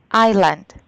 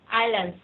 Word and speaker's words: island: unified the Iceland Island the S is silent Island Island very good Island no